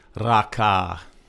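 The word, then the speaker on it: ราคา: It's a two-syllable word. Both syllables are flat tone. That means your normal voice. Raka.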